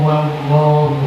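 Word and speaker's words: وَاللّٰهُ: Fahaddits Allahu Akbar boleh, fahaddits la ilaha illallah wallahu akbar. Cuma bacaannya harus benar, jangan le, ya, dengan le tapi la, ya, dengan le illallah tidak ada, ya. Harus la ilaha illallah wallahu, bukan wallah, wallahu akbar.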